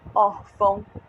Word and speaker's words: órfão: diferenciar peso o órgão órfãos o Tom perceberam essas palavras todas terminam com mão também mas elas são paroxítonas é a outra sílaba dela é acentuada é órfão órgão e soltam gente olha